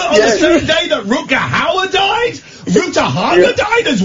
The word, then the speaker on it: Rutger Hauer: Alan, give us a call when you can pronounce his name properly. How's about that? I was in a restaurant in LA once. Rutger Hauer was there, as was Ruta Haga.